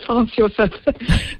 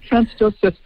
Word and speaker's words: Franz Josef: No, the furthest we went down was Franz Josef Glacier. Ah, so, very good. I'm probably pronouncing that in the European way, Franz Josef. Franz Josef.